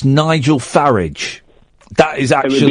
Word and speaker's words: Farage: Farage rhymes with garage. So it's Nigel Farage.